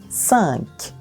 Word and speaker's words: cinq: Então, CI, como em português, se pronuncia com o som de S e a gente vai dizer cinq. O Q final tem esse som de C, explosivo, né? Cinq.